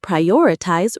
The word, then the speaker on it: prioritize: When everything seems urgent, you must prioritize ruthlessly. Pronunciation, prioritize, stress on the second syllable.